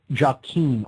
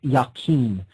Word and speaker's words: Jachin: This pillar is known as the pillar of Jachin, or sometimes pronounced Yakin.